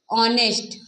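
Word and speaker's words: honest: ऑनेस्ट बॉय, तो जैसे यहाँ पे क्या था, यदि कोई नाउन एच से आरंभ हो किंतु बोलते समय एच क्या हो, हमारा साइलेंट हो। तो जैसे यहाँ पे ऑनेस्ट, एच हमारा यहाँ पे क्या है, साइलेंट है।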